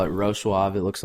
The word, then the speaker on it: Wrocław: You call it Wrocław. It looks like Wrocław in English.